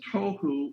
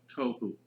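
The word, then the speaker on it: תֹּהוּ: being translated there is tohu and vohu. Pronunciation, it would be T-O-E hyphen W-H-O, tohu. That's not the way it's spelled in Hebrew, but that's the way it's pronounced. T-O-E-W-H-O, tohu.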